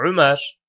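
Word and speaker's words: عمر: Ömer bunun sonunda vav olsaydı bu artık Ömer diye okunmaz. Amır değil mi? Amrun. Amır şeklinde okunurdu. Yani ra'dan sonra vav olsa bu onun amır olduğunu gösterirdi. Vavsız yazıldığı için Ömer oldu.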